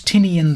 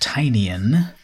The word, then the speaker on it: Tynion: latest work by James tinian I 4th which actually now I think it's pronounced tinan after his smash success of